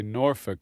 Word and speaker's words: Norfolk: They kind of run it together and say Norfolk.